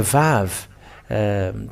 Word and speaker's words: Vav: The Vav, because it is called as Vav, it is pronounced as a V.